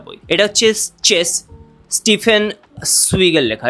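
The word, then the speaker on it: Zweig: এটা হচ্ছে chess Stephen সুইগের লেখা। এটা কিন্তু জেগ না সুইগি আসলে এটার উচ্চারণ।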